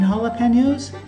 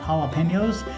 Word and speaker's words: jalapeño: you want to count jalapenos jalapenos are a hard word to say it's even hard to spell it's crazy jalapeno starts with a j but it's an h sound in spanish and these are a